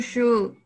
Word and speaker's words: should: You should. You should. Should, get. Should. No, la L es muda, pronuncias la D, ok.